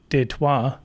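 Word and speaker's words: Détroit: Uh they got to steal your trailer too to really go somewhere in in Deto, which is the French pronunciation for Detroit.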